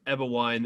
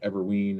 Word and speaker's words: Eberwein: and first of all you pronounced it correctly which is unheard of almost everybody gets it incorrect they say like everween or you know and so